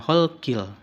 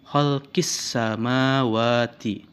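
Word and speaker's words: خلق السماوات: maka dibacanya di situ Bukan kholqil tapi kholqis samawati Kemudian yang kedua ada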